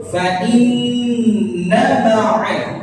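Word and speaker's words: فَإِنَّ مَعَ: Jadi nunnya jangan dibaca panjang. Nanti pertama nunnya gunnah, tapi dia nggak panjang. Fa inna ma'al. Jadi seperti itu. Jangan nanti fa inna ma'al yang dibaca fa inna ma'al. Nah itu salah. Kenapa? Nunnya dipanjangin. Sementara nunnya itu nggak punya alif.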